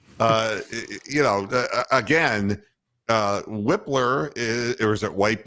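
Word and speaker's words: Wypler: you know again uh whippler is or is it white blur it's Luke whippler I don't know why people pronounce it wipler unless I've just unless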